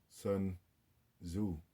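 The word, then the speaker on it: Sun Tzu: good read is by sun zu if i'm saying it right i think the t is silent um double check on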